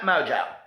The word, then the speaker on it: Mongeau: it doesn't say but let's read this Tana Mojo for those drama channels that don't know how to pronounce her name you could have done your